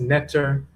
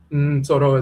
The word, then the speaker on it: Ntoro: So, now we should also mention that the term, quote, is mispronounced netter, is NTORO. NTORO is pronounced in the Akan language, still pronounced and so forth, NTORO.